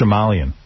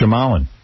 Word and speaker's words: Shyamalan: It's actually not so big, I know how to pronounce his name. It's Shyamalan. It can't be E-N. It's Shyamalan. Okay. M. Night Shyamalan.